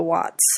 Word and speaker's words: Wat: So I started first by trying to go to one of the Wats. A Wat is a Buddhist temple. It's spelled W-A-T.